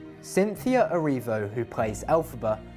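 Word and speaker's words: Elphaba: End for 18 years the name of the wicked witch alphaba was created by taking the phonetic pronunciation of the original Wizard of was author L frank bal's initials lfb which became l ala Cynthia Aro who plays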